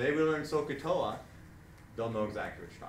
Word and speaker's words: SOHCAHTOA: So that kind of abbreviates down to like OH, AH, OA, and we put it together in this thing, SOHCAHTOA, which is pronounced Sokotoa, and means sine is opposite over hypotenuse.